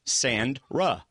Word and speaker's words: Sandra: SAND and then "ra." That's right. It's like the beach, sand, "ra." Well, to save people from typing it later or tweeting it or whatever, it's pronounced like it's spelled, David.